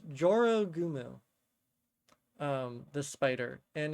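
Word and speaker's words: 女郎蜘蛛: Um, and it's specifically pronounced Joro Gumu.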